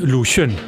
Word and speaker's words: Lu Xun: Wie wird er ausgesprochen? Lu Xun.